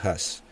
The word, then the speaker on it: Huss: hablar de John has a veces se me escapa el hus porque lo leo en castellano se escribe hu s pero se pronuncia has Entonces vamos a hablar